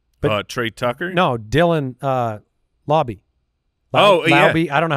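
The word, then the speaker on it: Laube: No, Dylan Lauby. Lauby. I don't know how to pronounce his last name. Yeah. I think it's Lauby. Yes. He is. Lauby? Lauby. Lauby. Yeah, that's right. L-A-U-B-E. Lauby.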